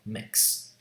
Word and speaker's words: mix: Starting consonant is I, m, and then there's a vowel, mix.